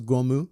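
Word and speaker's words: Gomu: During his altercation with Shanks, Higma claims to have killed 56 people, which is Luffy's trademark number and can be pronounced as Goumu.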